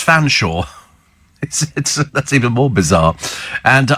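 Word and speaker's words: Featherstonehaugh: remember being taught that the family name Featherstone goof is pronounced fans Shaw that's even more bizarre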